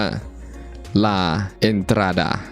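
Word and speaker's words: La Entrada: พื้น ที่ บริเวณ นี้ เป็น ภาษา สเปน นะ ออก เสียง ยาก อยู่ เหมือน กัน นะ ครับ พื้น ที่ ตรง นี้ ออก เสียง ว่า ลา เอนดา แปล ว่า ทาง เข้า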